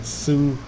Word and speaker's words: Saruta: I basically pronounced Saruta's name like you think of Tsunami, because they both got the beginning part of Tsunami, and Saruta is why I come up with Saruta.